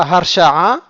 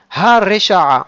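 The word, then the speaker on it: הרשעה: Donc là, on ne dit pas Harsha'a parce que le He ne porte pas un patah, mais il porte un kamatz. Haresha'a. Il ne faut pas non plus exagérer et prononcer le resh de manière trop forte.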